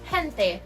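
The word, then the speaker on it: gente: different pronunciation speeches and in Spanish the word jente is pronounced as hente in Portuguese from Portugal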